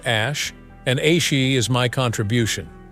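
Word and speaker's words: Æ: out of a science fiction film n is pronounced Ash and AI is my contribution Elon said when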